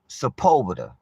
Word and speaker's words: Sepulveda: I don't know what you be saying, Sepulveda, but baby, it's pronounced Sepulveda.